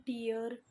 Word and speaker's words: tier: अब बच्चा कुछ लोग इसको क्या पढ़ते हैं? टियर। कुछ बच्चे इसको पढ़ते हैं टायर। और गूगल पे प्रोनाउंसिएशन देखोगे तो वो है टिया। क्या प्रोनाउंसिएशन है? टिया। तो अब अपने हिसाब से आप लोग देख लें, स्पेलिंग ज़्यादा इंपॉर्टेंस है। टायर बोलना है, टियर बोलना है, टिया बोलना है।